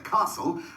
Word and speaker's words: castle: to help you remember some tricky silent t's after tea listen for the whistle before you fasten up the castle and at bedtime use